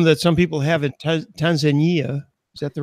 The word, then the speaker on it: Tanzania: Well, here's a problem that some people have in Tanzania. Is that the right pronunciation? Tanzania is correct.